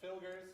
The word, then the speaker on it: Filgers: Filgers. Filgers, like Phil, then Gur, like Tony the East and Alexander.